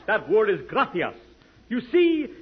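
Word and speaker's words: gracias: no no no not gracious that word is graas you see in Spanish the C is pronounced th look graas you see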